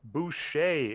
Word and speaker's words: Boucher: of the world really yep all right Chris Boucher is how you pronounce that last name for Toronto great contract